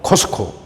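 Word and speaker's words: Costco: 그런데 미국 사람들 발음하는 걸 보면은 코스트코 T자 이걸 약하게 발음합니다. 그래서 물론 코스트코 이래 발음하는 사람도 있지만 주로 코스코 T를 아주 약하게 거의 안 들리게 발음하는 사람들이 많습니다.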